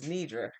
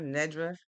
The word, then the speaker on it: Nidra: My name is Nidra and some people pronounce it Nidra, Nedra, Nerdus.